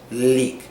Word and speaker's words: leak: leak and lick now when you're saying leak you want to make a hard e in the middle leak and with the l sound of course you want your tongue touching the root of your mouth leak leak but with